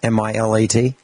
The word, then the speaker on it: Milat: And it looks like there's even a book called Catching, is it pronounced Milat, M-I-L-A-T?